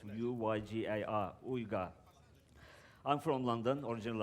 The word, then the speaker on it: Uygar: My name is Uygar. It's a difficult Turkish name. Most likely you won't even say it properly, but it's U-Y-G-A-R, Uygar.